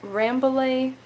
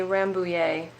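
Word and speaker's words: Rambouillet: poetic and artistic now are you a ramblay or a rambullier person crystal this is like one thing that has always bugged me because it feels like it needs to be a french pronunciation but every single time i've heard it spoken by an english speaker it's always rambling okay so we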